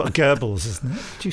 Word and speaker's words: Goebbels: Gables. Goebbels, isn't it?